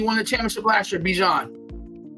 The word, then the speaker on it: Bijan: My guy, right, that helped me win the championship last year, Bijan. Right? You gotta say his name right. It's Bijan.